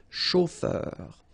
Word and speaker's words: chauffeur: chauffeur de taxi ok a u o r chauffeur un chauffeur de taxi